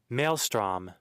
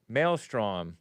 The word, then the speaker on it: maelstrom: Or m how do you say this? Maelstrom. Whoa. At least it was a man telling me how to pronounce. Thank you Google for making the pronouncer a man. Men's history month because they always give some woman voice. Melstrom. Melstrom.